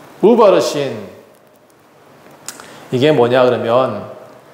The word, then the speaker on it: 우바르신: 우바르신 이게 뭐냐 그러면 우자가 접속사 우예요. 그리고 바르신 메대와 바르신이 페르시아예요. 발음이 그래요. 원래 바르신은 뭐냐 그러면 여기 성경에는 뭐라고 되어 있죠? 다시 한번 볼게요. 베레스라고 나와 있어요. 28절에 보니까 베레스라고 되어 있는 것은 이게 아람어예요. 그런데 이걸 히브리어로 바꾸잖아요. 그러면 바르신, 파르신 이렇게 발음이 돼요.